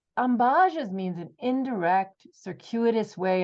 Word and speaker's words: ambages: subscribe on YouTube and give me a like ambajes means an indirect circuitous way of talking I